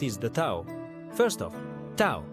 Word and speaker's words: Tao: First off, Tao, spelled T A O, but pronounced Dao literally means the way or the path.